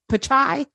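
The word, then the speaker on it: Pichai: his last name p-i-c-h pachai I think it's like chai tea so yeah which means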